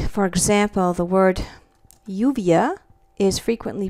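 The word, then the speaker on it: lluvia: pronounced like a y in some Latin American countries you will hear this pronounced like a soft J like for example the word yuvia is frequently pronounced Juvia okay and that's means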